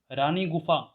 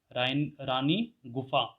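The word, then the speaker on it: रानी गुम्फा: रानी गुफा, again am silent है, ठीक है। रानी गुफा केविन उदयगिरी, जो कि है double storey and has some beautiful sculpture.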